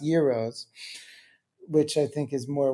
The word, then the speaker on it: gyros: And we got to Greece and we just went nuts with gyros, or as they're actually pronounced, gyros, which I think is more well known.